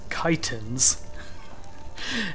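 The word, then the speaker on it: chitin: to drop my chorus kitens turns out everyone seems to pronounce this differently but the correct pronunciation is actually kiten and that is a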